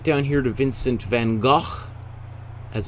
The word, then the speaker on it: van Gogh: we're gonna go right down here to vincent van gaal as it's correctly pronounced but we'll call him vincent van gogh for uh it's probably more most commonly known